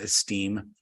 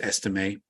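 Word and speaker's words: Estimé: you got audrick estimate I finally figured out how to pronounce his name it's not esteem he's not held in high esteem it's estimate uh he can make a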